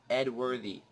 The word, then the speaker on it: Edworthy: Edworthy. E-D-W-O-R-T-H-Y. That's how you spell it and pronounce it.